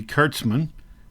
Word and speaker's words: Kurtzman: Mad Magazine by Harvey Kurtzman and yes I pronounced it right Kurtz man see he's telling me himself right there anyway so that is